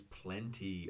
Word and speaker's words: plenty: is another plenty plenty Americans almost never aspirate or blow out air when we pronounce a t in the middle of a word it's very uncommon so plenty p-l-e-n-t-y which means